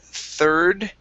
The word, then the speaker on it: third: And we also have, let's see, the word third. Okay, give me an ER sound here. Third. Third. Okay, good. One more time, pronounce that D at the end. Third.